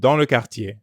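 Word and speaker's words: quartier: to the ending of cartier it's pronounced the same as the beginning of the english word yell yey i'll have to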